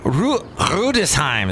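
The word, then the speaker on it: Rüdesheim: Rudesheim is how you say it in German. You swallow your R's in Germany.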